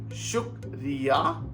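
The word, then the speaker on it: शुक्रिया: But the pronunciation is shukriya or dhanyawad.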